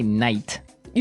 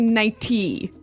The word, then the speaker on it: nighty: But you don't say night. You don't say nighty. You say nighty. Yeah, you make the T a D. Nighty.